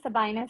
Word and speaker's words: Sabaenah: introduce yourself sure uh so my name is Sabina as uh Maryam uh your Mariam right so as Maryam rightly pronounced uh it's very rare So I was